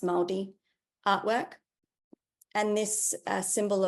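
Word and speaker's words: Māori: Zealand so this is maldi or Mari pronounced maldi artwork and this uh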